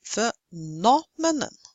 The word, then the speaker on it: phenomenon: It is phenomenon. See, third syllable from the end.